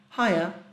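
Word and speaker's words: hiya: traduzir não importa tanto a pronúncia dele é Raia ae Harry Ok bem parecido Olá Harry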